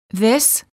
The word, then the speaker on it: this: this is singular and is pronounced with the short I sound and a s the word these is plural and is pronounced with a long vowel e and a z sound this these I like this